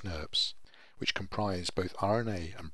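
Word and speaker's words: snRNPs: The spliceosome is composed of five individual small nuclear ribonucleoproteins, pronounced SNRPs, which comprise both RNA and protein components.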